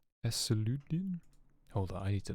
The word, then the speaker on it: Euclidean: Ecludian? Eseludian? Hold on, I need to know. Euclidean.